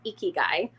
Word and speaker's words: Ikigai: This might be one of my, I feel like I'm always pronouncing it wrong, but I'm fairly certain it's Ikigai.